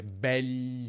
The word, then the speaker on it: begli: Nella pronuncia è più comune dire begli occhi, gli occhi, senza dire quella I praticamente.